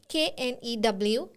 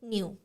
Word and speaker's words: knew: And few more examples are also provided here, that is new and KNEW, new. Both are pronounced in the same way, new, but they are entirely different in meaning.